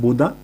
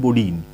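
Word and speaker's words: Bodin: बोडीन भी इसको कहा जाता है, बोदा। इसका इंग्लिश जो कन्वर्जेशन है, जो इसका जो इंग्लिश प्रोनाउंसिएशन है वो है बोडीन।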